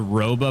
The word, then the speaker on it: Roba: This bank is called Roba Bank.